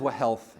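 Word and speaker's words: whealth: That word is wah health. And I'll overpronounce it so that you hear the h in that word. W H E A L T H.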